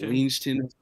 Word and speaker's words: Livingston: Oh, I got the idea from I forgot how to say his name, but it's like Ligington. Livingston. Yeah, Livingston.